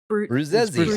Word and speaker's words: Bruzzesi: Probably like Brueshi. or something. Come on, Italian speakers. Yeah, I'm an English speaker. Bruchesi? Bruchesi? No. Brutzesi? It's Bruzzesi. I said Bruzzesi. Bruzzesi. I think it's like a Bruzzesi. teasy like pizza, like Bruzzesi.